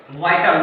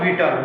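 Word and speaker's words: vital: पहला वर्ड है VIT, वाइटल, नॉट विटल, वाइटल।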